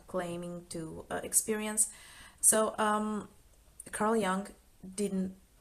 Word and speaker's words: Jung: So Carl Jung didn't, Jung, I think Jung, he pronounced it Jung in English.